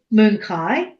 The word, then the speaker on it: Manakara: Okay, so this idea of Moonkai, and I use the term, it's spelt Manakara like this, but I like the Punjabi, it is a Punjabi word, and I like the pronunciation because I think it's a gentler, softer sound.